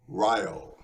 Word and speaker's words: Ryall: It rhymes with vile. Ryall.